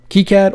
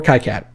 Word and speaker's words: KiCad: team have said they don't care how you pronounce it keycad or kai-cad doesn't matter different regions in the world are going to pronounce it different however it is spelled